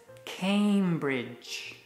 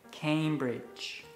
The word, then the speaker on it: Cambridge: The pronunciation is Cambridge. Cambridge. ¿Y sabes por qué se llama Cambridge?